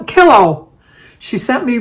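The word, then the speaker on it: Killough: you cha cha cha it's also Melissa P killow she sent me pronunciation k i l l o u g h but pronounce it is a pillow so it's killow thank you Melissa happy birthday to you happy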